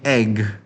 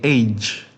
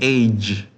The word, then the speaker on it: age: Don't say egg ya. How much is your egg? No, we say age. Oke. Eh, G-nya agak ditekan age ya.